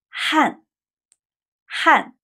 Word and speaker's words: 汗: 汗汗 it sounds like the 汗 from 汉语 but it's not, it's another character.